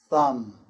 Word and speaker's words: thumb: For example, climb, comb, thumb, and bomb. The B is silent there.